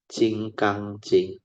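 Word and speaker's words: 金刚经: They pronounce it as Jing Kang Jing. Diamond is Jing Kang. So Diamond Sutta is Jing Kang Jing, and this is a very famous sutta under the Mahayana tradition.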